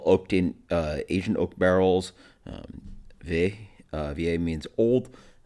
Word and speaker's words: Vieille: Vieille is obviously a French word. It's like American would probably pronounce it Viella. Viella. Rah. It's Vieille. Literally Google Translate. Vieille.